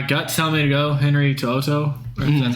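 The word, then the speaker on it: Henry To'oTo'o: so I my guts tell me to go Henry to Oto that's how you pronounce that name the linebacker out of Alabama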